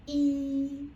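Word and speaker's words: 一: It's E. It's high pitch. And you need to keep at that high pitch. Cannot go up or go down. The common mistake is like people like to pronounce as E or E or E. Your voice was changing. Then it was wrong.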